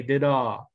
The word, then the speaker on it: dit: Stephen, when you say dit, you generally don't pronounce the T. You say did-ah, did-ah-dit, did-ah-da, something like that.